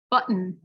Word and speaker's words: button: so what happens is when it's followed by an n sound the t will get stop the air in your throat and then instead of going out of your mouth it'll go out your nose for the n so any n or m sound is said through the nose the mouth isn't open right it's going out your nose so the air moves out and said it's a completely different sound so listen first and